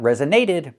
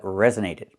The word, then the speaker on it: resonated: The primary stress is on the first syllable. Rez resonated. The story really resonated with me. Not resonated but resonated. And it means it affected me.